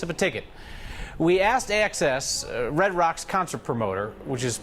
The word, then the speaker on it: AXS: in the office today with access versus axs it's access i got it wrong